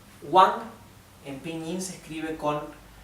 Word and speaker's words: Wang: alguien apellido muy común en china que es wang wang en pink se escribe con la w y se pronuncia como